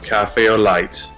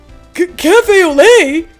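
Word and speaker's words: café au lait: now a cup of Cafe oite did I pronounce that correctly uh it's glay actually the judge just said it Cafe oay is that even legal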